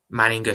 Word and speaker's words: Manninger: So horrible news, but may Alexander Manning rest in peace. Manninger, sorry, apologies. I feel like an idiot now. I've just said the name wrong.